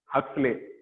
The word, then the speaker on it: Huxley: और जो दूसरा साइंटिस्ट था उसका नाम था Julian हक्सले। Julian हक्सले, हक्सले नहीं है, मैं हंस रहा हूं, अब भी हंस लो, इट इज हक्सले, हक्सले, ठीक है।